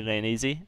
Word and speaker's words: Lane Easy: We are finding out from Lane Easy that your pronunciation was correct. It is absolutely Lane Easy, and I guess as far as he was concerned, the lane was easy.